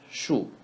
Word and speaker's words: 数: 数学 Shu is pretty much like the word shoe in English. Shu.